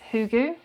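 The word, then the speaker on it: hygge: the our hot coco for last year is hugu and I don't know if you guys have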